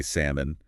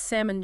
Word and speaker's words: salmon: of course I say salmon L clear is day no actually the L is silent it's salmon ginaa just like that